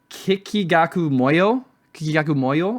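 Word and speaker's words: Kikagaku Moyo: An artist that I listen to actually from I think Tokyo is Kikigaku Moyo, I think. And you definitely pronounced that bang on.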